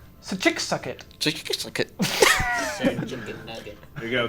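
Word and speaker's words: Schicsokt: No, sir. Sachik-Sugget. Sir Chick Suggit. Yes. Would you like me to spell it in your common tongue? Please. Yes, I think he please. would like that. That is difficult. S-C-H-I-C-S-O-K-T. Sakitchika. Just like that. Sachik-Sugget.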